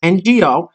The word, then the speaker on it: Ngo: and andy no and his last name is pronounced ngo and you know he's